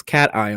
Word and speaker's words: cation: positive ion a cation now it's notation its cation so pay attention to the pronunciation on this one and then if we